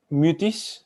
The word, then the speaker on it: Mutis: I pronounce it like the French way. I'd say Mutis. Mutis.